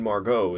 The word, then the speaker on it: Margot: Like that actress, Margot Robbie. Isn't it spelled the exact same way? With the T? Silent T?